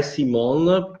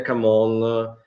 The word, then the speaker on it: CMON: Sì, allora la pronuncia vera è Simon, però gli italiani tendono a dire Camon e tutto sommato vanno bene. Insomma.